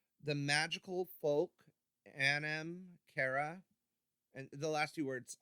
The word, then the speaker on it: Anam Cara: 2017 don't quote me it's the magical folk Anam Cara and the last few words I always worry I mispronounce it but a in am CA ra